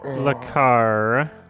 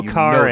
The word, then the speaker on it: Lucare: Head to La Car. Meet up with Adam, Patricia. you know that's not how it's pronounced. You know Lucare. that's not how it's pronounced. Thank you. Lucare.